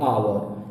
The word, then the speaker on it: hour: HOUR लिखा तो हुआ है HOUR, लेकिन जब आप इसको पढ़ेंगे, उच्चारण करेंगे, तो आप बोलेंगे आवर.